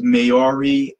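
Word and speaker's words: Māori: I believe the group that he is, I think it's pronounced Maori, Maori.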